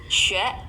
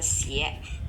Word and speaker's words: 血: Tapi kalau misalnya tadi saya bilang kalau misalnya xue ya atau misalnya yang lain itu bacanya xue bukan xie. Oke, bukan xie ya.